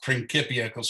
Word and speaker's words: Principia: wrote his principia so this is pronounced principals there's no uh there's no s sounding c's in the latin language and latin was the